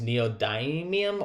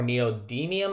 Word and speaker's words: neodymium: at is that nd which is neodymium or neodymium i've heard it pronounced both ways and that's the rare